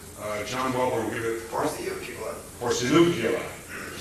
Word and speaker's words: Porciuncula: John Welborn will give it Porciuncula, to say it correctly.